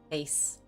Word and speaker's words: vase: Vase. You say vase. Rhymes with pace.